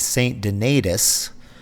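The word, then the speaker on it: St. Donatus: lutheran church also i later discovered that the pronunciation of this place is saint denitis and a fun fact is that everybody in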